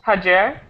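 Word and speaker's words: Hacer: right how does it sound can you you pronounce it for me ha haes haer yes okay very good very good um so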